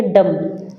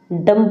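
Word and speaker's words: dumb: B silent है, यहाँ पे पी साइलेंट है, इसको बोलेंगे डम, डम्ब नहीं बोलेंगे, ठीक है।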